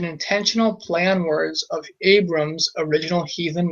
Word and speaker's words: Abram: But with the r there, the r, instead it's pronounced first syllable a, second syllable bre.